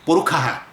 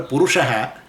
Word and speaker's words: Purusha: Wherever the sha comes, right, they pronounce it as a kha. So, Purukha they call. So, instead of a Purusha, they say Purukha.